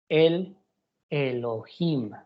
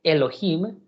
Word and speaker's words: el Elohim: ver en sus pantallas, que se pronuncia como el Elohim, con ese artículo al principio de la palabra. No es simplemente Elohim, sino es el Elohim.